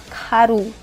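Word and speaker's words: 가루: at this word guys karoo Khiyeok has combined with a and Rieul has combined with oo Rieul is in the middle of the word and sounds R KAROO ?ok and next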